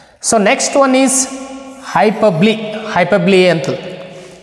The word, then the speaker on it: hyperbole: Hyperbole ಅಂತ. How do you pronounce it?